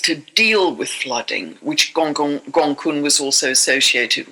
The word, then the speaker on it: Gonggong: Um we also have the dwarf planet Gonggong, which I squeezed in, which is spelled all one word, Gonggong.